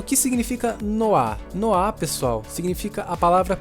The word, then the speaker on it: noir: Mas o que significa noá noá pessoal significa a palavra preto essa palavra está em francês e se pronuncia dessa forma mesmo Preto nada mais é